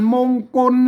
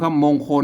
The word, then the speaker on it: มงกล: อ่าน ว่า มงคล น่ะ ไม่ ใช่ มงคล นะ ครับ มงคล นั่น มัน ไทย นะ ครับ มงคล นั่น ก็ แหม่ ตัว นี้ มัน ถูก กล้า นะ ครับ อ่า จง อ่าน ว่า กล่า มงกล นะ ครับ อ่า มงกล นะ ครับ